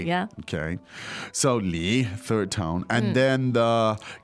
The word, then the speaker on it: 李: Surname is 李 Li, which also third is a tone.